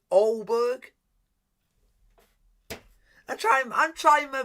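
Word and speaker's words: Aalborg: okay it's au bo is it auborg because he's also said you don't you do not say the g says olberg i tried i'm trying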